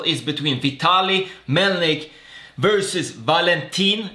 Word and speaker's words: Valentin: between Vitaly Melnik versus Valentin. This time I pronounced that right and not Valentino.